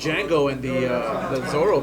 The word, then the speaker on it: Django: cuz Jango is so serious of course he's serious the D is silent here I am you